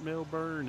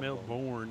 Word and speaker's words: Melbourne: It's not Melbourne. It's not Melbourne. It's Melbourne. Melbourne.